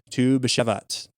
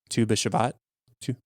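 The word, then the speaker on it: Tu BiShvat: year for trees as tube shevats i don't think i pronounce that right but that's okay two bishop two yes that's right yeah sorry i do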